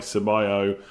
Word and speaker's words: Ceballos: Ceballos. That seems to be how you pronounce that name.